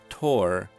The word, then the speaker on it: tour: be great gauges but how about pronouncing t-o-u-r as tor instead of tour as in is the band back on tour the tour pronunciation is